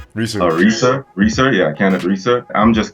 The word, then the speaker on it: Reaser: Acker and Kenneth Reese. Reeser.